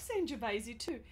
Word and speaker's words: Sangiovese: apricot tones sir - I'm impressed I like Sanjiv AZ - and you are you um and that's how we pronounce it I hope that you pronounce it